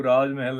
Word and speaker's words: Raaz Mahal: of you know and Raj Mahal rhymes with Taj Mahal so it is about